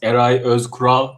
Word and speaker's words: Eray Ozkural: good enough it's called it's pronounced ery oscar but right i think that's not